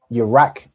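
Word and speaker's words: ירק: The letters we have are a ya, a ra and a qua. Concern. So, would it be the three letters we have? All right. In that order, Iraq, right? Excellent. Excellent. Iraq. Okay. Right. So Iraq is how you'd say something is green.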